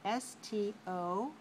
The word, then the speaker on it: stopped: p so we spell s-t-o-p-p-e-d we don't pronounce it as an extra syllable just sound stopped stopped how about the word